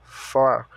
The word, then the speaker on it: for: Então, para, for. Da mesma forma que se escreve, se pronuncia. Somente enrola a língua no R.